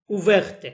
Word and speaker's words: ouvert: Après, mais, inverser les rôles, ouverte. وحطينا الـ E هتبقى ouverte. من غير الـ E هننطق لحد الـ R بس، تبقى ouvert.